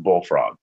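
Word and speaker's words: BLFRG: five letters for example the spelling of BL FRG is pronounced bullfrog the stars on the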